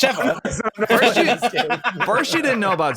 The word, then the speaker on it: Sheva: Sheva cosmetic. Sheva cosmetic. I believe it's Shiva. Oh my god. I believe it's Shiva, Gary. Yeah, Gary. It's Sheva.